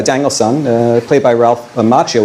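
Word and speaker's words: Macchio: Danielson, uh, played by Ralph Machio, which is actually the Italian way pronounced Makio, but I believe he pronounces it Machio, and I'll respect his decision.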